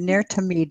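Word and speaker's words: Ner Tamid: I mispronounce this, I'm sure you'll correct me, Nir Tamid del Sud. Did I do that right? That's right. Nair is eternal Tamid, Nair Tamid, eternal light.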